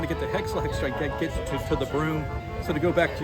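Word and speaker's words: Brüm: So her best friend, her sidekick, is Broom, which is actually a broom, and it's funny because his name is Broom, spelled with an umlaut, B-R-umlaut-M, Broom, hilarious.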